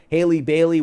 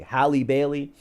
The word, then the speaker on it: Halle Bailey: Do you guys remember when Hallie, whatever her name is, Haley Bailey, whatever, Hallie, I can never pronounce her name properly. Halle Bailey, when she was casted as Ariel for The